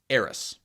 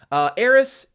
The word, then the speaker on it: Aerith: And in Japanese, you'd pronounce it Earisu or Earithu, because S-U and T-H-U are like the same sound effect in Japanese.